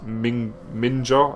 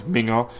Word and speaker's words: minga: talk about the word he said it's ming ninja and i was like or something like that i was like no the the right pronunciation of the word is minga and aminga is basically